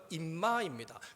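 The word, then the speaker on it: אמא: 아람모르는 임마입니다. 욕한 거 아닙니다. 임마입니다. 임마.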